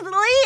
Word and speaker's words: Li: No, it's L I You guys. Lee L I like Leard.